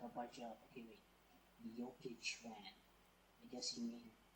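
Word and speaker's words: Jokić: I mean, in the chat, it's like Joe Kic, but you say yo when you're pronouncing like the Slavic languages, like Croatian, Serbian, all that stuff. You say Jokic, Nikola Jokic.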